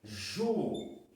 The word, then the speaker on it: juíza: Porque a palavra juíza, deixa eu pegar aqui o azul, que o azul fica melhor que o vermelho para vocês enxergarem. Ju-i-za. Ó, o I sozinho na sílaba. Por mais que tenha um Z depois, o I está sozinho.